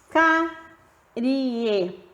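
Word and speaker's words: cárie: Carie. Perceba que a letra I da palavra aparece com menos força na pronúncia, portanto, ela é uma semivogal.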